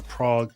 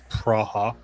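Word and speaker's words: Praha: We had went up took a little six-hour drive here from Germany up to Praa Czech or Prague as the Americans tend to call it, but it's Praa as it's properly pronounced.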